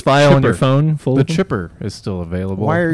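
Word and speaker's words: Xipper: But then it's actually just about a guy being put through a wood chipper. It's Chipper, but it's spelled X-I-P-P-E-R.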